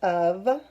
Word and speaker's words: of: sound so it's uh so it's not even making the right letter sounds at all that would match the letters that we normally the letter sounds that we would normally use when we see these letters so Oh abscess of